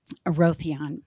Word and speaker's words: Aerotheon: aroa aroan aoia aroon aroon thank you um aroon so uh I was allowing it this is